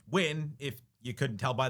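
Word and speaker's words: Hyunh: Win, by the way, which is pronounced Wyn if you couldn't tell by the way I've been saying it, is a deliberate misspelling of the Vietnamese surname Wyn.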